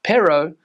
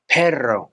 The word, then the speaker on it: perro: And the word dog is not pronounced perro, but perro. So the R sound.